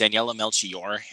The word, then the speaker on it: Daniela Melchior: yeah, And I did finally learn how to pronounce her name. It's Daniela Melchior as Ratcatcher 2.